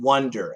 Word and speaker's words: wonder: W-O-N-D-E-R is an Wonder, wonder. So it's the same idea as I want one.